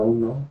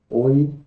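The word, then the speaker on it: ου: El quinto, oi, oi. El sexto, u, u. Ojo, no se dice o. Los estudiantes siempre ven o y u y quieren decir o, pero se pronuncia u.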